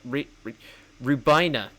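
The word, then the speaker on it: Rhiwbina: That's actually pretty impressive at re rubina. That's how you pronounce it. The W throws me off.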